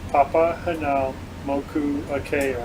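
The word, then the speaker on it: Papahānaumokuākea: It's easier if you break it into the syllable. Yes. I was trying to. Moku Akea. Papa Hanau Moku Akea. See, Marine National Monument. Papa Hanau Moku Akea.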